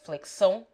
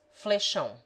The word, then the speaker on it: flexão: Flexão, properly pronounced flexão, in Bahia is pronounced flechão.